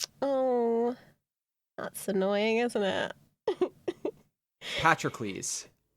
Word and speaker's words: Patroclus: Patrocles. That's how you say it. Is that how you say it? Yes. Why did I always think it was Patroclus? It's that O, but I'm pretty sure it's Patrocles makes more sense.